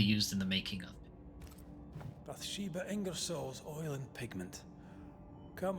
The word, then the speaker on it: Bathsheba: And Bathsheba is how everyone else is pronouncing this one, whereas it's pronounced Bathsheba.